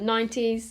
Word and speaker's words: Nine Teas: the lipsticks i've got nine teas which is spelt like teas but 90s this is the one